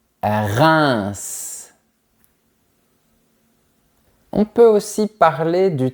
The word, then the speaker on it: Reims: E-I-M se prononce comme I-N. On dit Reims.